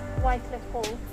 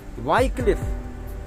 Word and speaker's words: Wycliffe: ज़रा इसको प्रोनाउंस करके बताएंगे क्या है ये? Wycliffe Hall. वाइक्लिफ।